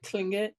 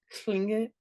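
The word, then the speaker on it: Tlingit: like on Clinket, like Klingit? Is it like, even though it's L, does it have a slight T to the beginning of it? Klingit? There isn't a slight T. It's more like a K.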